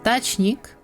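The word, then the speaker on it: дачник: And dachnik will go into dach. E will soften n, e, and k. Dachnik. Ch will stay ch.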